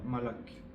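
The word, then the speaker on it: מלאך: Et en hébreu, ce mot veut dire malak. Ça se prononce comme ça, le même sens.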